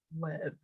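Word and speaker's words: לב: on its own is lev, and it's kind of weird because V and B is like interchangeable, and I never know how to pronounce it, but it's LEV, kind of pronounced like lev, Mhm.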